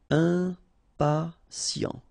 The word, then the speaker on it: impatient: Okay, remember, final T not pronounced. And then you get this T, I and a vowel, so sien. Sien. Impatient.